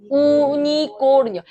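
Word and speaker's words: unicornio: 우니꼬르니요 우니어 가끔 가다가 우니콜니어라고 하시는 분들 저한테 혼납니다. 우니코르니어 우니코 어 있는 그대로 읽어 주시면 되세요.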